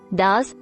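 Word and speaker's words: dah: silent T dashes are formerly known as Das with a short a sound step two look over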